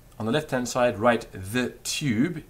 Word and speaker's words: tube: not that tricky um tube tube the way to do it is quite simple just go e with your tongue relaxed and sort of slopping